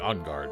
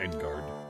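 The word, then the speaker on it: en garde: Should be saying on guard, shouldn't I? Not Engard. It's the most American way of pronouncing it.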